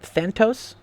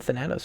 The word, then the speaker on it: Thanatos: Thantos? No, he said Thanatos.